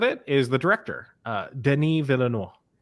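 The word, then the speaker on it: Denis Villeneuve: is the director uh denis villanova that's what it is didn't even i i honestly i had to look up how to pronounce his name today because before today i was using my uh my my uh kentucky my kentucky brain and i've been pronouncing it like a full peggy hill voice just dennis villanuevae in the last few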